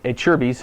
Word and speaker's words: Acerbis: about an NES and that's what it's called a Cher's a lot of people don't know how to say the name right but anyway a Cher's fuel tank it's an